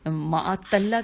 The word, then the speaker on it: معطلہ: ہجے دوبارہ کرتی ہوں، میم عین توئے لام ہے، عین پہ زبر ہے اور توئے پہ تشدید ہے، تو اسے پڑھنا چاہیے غیر معطلہ۔ جی، یہ بہت